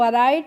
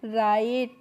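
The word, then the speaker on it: write: तो आपको ध्यान रखना है जब भी कोई वर्ड डब्ल्यू के बाद जब आर आती है किसी भी वर्ड में तो वहां पे हम डब्ल्यू का प्रोनाउंसिएशन नहीं करते हैं। तो इसको हम राइट नहीं पढ़ते हैं। क्या पढ़ते हैं? राइट।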